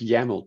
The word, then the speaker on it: YAML: yeah I like that it's yaml TM rhymes with camel it's that's a good